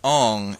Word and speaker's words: Aang: Actually, it's pronounced Ong in Sokka.